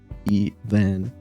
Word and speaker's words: Evan: It's like drunken even. It's like even, and then you get drunk and you go like Evan.